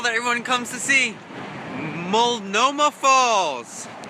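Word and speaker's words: Multnomah: everyone comes to see Moma Falls you don't pronounce the T oh snap look at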